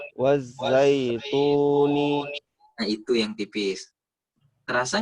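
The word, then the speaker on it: وَالزَّيْتُونِ: Tipiskan. Sama seperti mu. Coba. Mu. Nah, itu tipis. Wazaituni.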